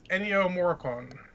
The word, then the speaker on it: Ennio Morricone: the way sorry there is that better it's Ennio Morricone he's the composer who did the good the